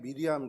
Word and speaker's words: 미리암: 마리아는 헬라식 발음으로 마리아인데 이게 히브리식 발음으로 미리암입니다. 그러니까 높다, 숭고하다, 사랑받는다. 그래서 구약의 미리암 그 이름이 헬라에 와서, 그러니까 신약에 와서 헬라식 표현인 마리아로 바뀌었다고 보시면 되죠.